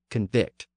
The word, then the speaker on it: convict: here's the interesting thing when those words are used as a noun the stress tends to be on the first syllable as we would expect given the passage of time but when they're used as a verb they tend to retain their original stress on the final syllable think about that